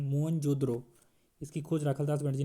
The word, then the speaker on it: मोहनजोदड़ो: मोहनजोदड़ो शब्द का सही उच्चारण मोहनजोदड़ो।